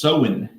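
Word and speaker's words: Samhain: They celebrated Sam Hayne, pronounced Oh, it's pronounced sewing over there.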